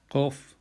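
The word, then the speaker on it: Qof: Kof is the K. It sounds like a K, but it's towards the back of the mouth. So it's the tongue goes backwards instead of forwards, and that's K sound.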